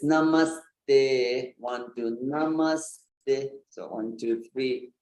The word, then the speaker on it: namaste: three namaste foreign heavy syllable and you have to give it some time you have to give it some weight it's not it's not